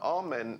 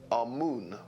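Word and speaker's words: Amun: important deities was amen now amen is the pronunciation that the hebrews give it and some scholars agree to use that pronunciation our moon is the pronunciation given to it by one of the old european scholars plutarch in the language of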